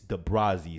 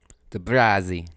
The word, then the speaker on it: DeBrazzi: It's DeBrazzi, so it's spelled DEB as in boy RAZZI. DeBrazzi. Yes, sir. Z like Zamunda, so DeBrazzi, ZZI, DEBRAZZI, DeBrazzi.